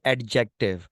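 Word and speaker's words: adjective: पास एडजेक्टिव अच्छा बेटा इसको अक्सर जो है ना जो लोग पढ़ रहे हो उतना वही पढ़ते हैं की एडजेक्टिव बट डी दे इसे ऑलमोस्ट साइलेंट लाइक अब इसको साउंड नहीं करते आप सिंपली ये बोलते हो एडजेक्टिव ठीक है इसके अब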